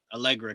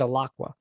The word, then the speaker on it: Alaqua: Is that how you say it, or is it Alaqua? Allegra Cox, I think. No, it's with a Q. It's Alaqua, like with a Q.